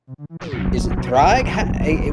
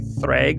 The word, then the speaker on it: Ddraig: straightforward, but during the multi-category tournament, is it Ddraig?